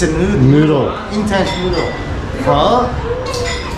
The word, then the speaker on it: phở: Alright, so I want the correct pronunciation. Okay. Phở.